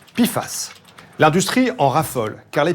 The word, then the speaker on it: PFAS: per et polyfluuroalchylé et ça se prononce piface l'industrie en raffolle car